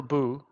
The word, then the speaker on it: Bout: time he left and marcel boo b-o-u-t presuming as a silent t he was actually brought